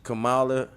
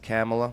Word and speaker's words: Kamala: how they buying cars Camala Vice VP didn't he sign the bill Bae it's pronounced camela I don't care okay